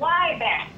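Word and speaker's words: Zwieback: They ain't never heard of swieback. W-I-E, I'm spelling it, W-I-E-B-A-C-H. I think it was a German bread or German cracker, but it's pronounced, at least in the black community, where it's called Wieback.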